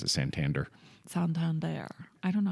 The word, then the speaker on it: Santander: They were born in Santander, and that's where they grew up. I like that you pronounce it Santander.